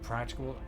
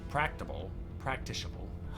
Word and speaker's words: practicable: Practicable. It's the C, because it's not tick, it's practicable.